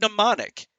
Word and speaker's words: mnemonic: Well, just like with the word mnemonic. Goddamn Americans bastardizing the English language. There's the word mnemonic is spelled with an M, but it's an N sound.